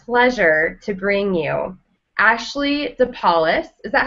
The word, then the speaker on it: DePaulis: and have the pleasure to bring you Ashley deis is that how you pronounce it yes okay I actually have never